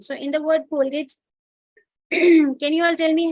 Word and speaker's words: Colgate: Because when we hear the word Colgate, E is silent.